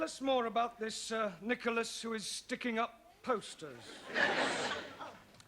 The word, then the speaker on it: Nicholas: upon a times there was a man called nickel ass it's not quite right no no once upon a time there was a woman called nickel us it's pronounced Nicholas all right once upon a time there was